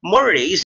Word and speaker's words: mores: any social group are observed and achieved now morays are strongly held norms norms if you are